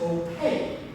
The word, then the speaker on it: opaque: it that note is opaque opaque kind of sounds like the word cake opaque means none of